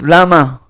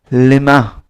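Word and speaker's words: למה: Lamed mem hey could be pronounced lama, a question. And it could be pronounced lema.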